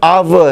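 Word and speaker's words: hour: उसकी वजह यह है कि एच साइलेंट है वहाँ पर और उसका प्रोनंसिएशन अव है, तो इट इज़ एन अव या he will be coming with in एन अव।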